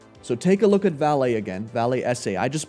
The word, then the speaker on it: Vale: for you to research for today walmart and valet or valet or whatever it is rom how